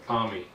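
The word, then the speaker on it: athame: aame although some people may pronounce it as aami I pronounce it aame the aame is a small blade that is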